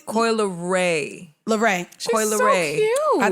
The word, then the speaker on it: Leray: I can't pronounce her name. You know her name. It's Coi. Is it Coi Leray? Leroy? Coi Leray. Leray.